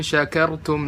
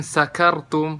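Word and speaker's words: شكرتم: La in syakartum la azidannakum. Di sini la in syakartum, kalau orang baca shin nggak jelas malah jadi sin. Jadi la in sakartum, bukan syakartum tapi sakartum.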